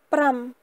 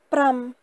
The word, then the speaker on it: ប្រាំ: Et il se lit pram, pram, pram.